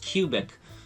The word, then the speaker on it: Qubic: maybe I'll like it the next thing we got here is qubic you might say oh that's pronounced cubic quic Q does not make the sound q that doesn't make